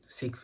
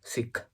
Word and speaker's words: Sikh: Sikh religion. Sikh religion, not Sikh religion, it's Sikh religion. You need to pronounce it correctly.